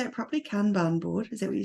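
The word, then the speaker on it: Kanban: you say it properly kban board is that what you said so I say kban board um but you'll hear some people say can ban which is also fine um it so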